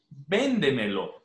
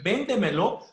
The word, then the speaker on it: véndemelo: fácilmente, explícaselo, rápidamente, juégatela, véndemelo. Por ejemplo, en véndemelo, la última sílaba sería lo. La penúltima, me. Antepenúltima, de. Y anterior a la antepenúltima, ven. ¿Verdad? Por eso lleva tilde.